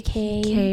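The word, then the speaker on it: Cay: Is it called what was it like Castaway K or something. The people in the Bahamas call it K, but it's spelled like key.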